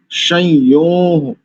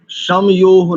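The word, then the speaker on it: शंयोः: सोमा सुविता सुवि ताय संयो संयो समयो नहीं करेंगे यहां पर अनुस्वार को य च छ ज य च वर्ग का अंतिम अक्षर संयो विसर्ग रख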